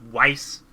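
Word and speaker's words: Weiss: wrong all this time I always said vice but apparently it's wice I don't know but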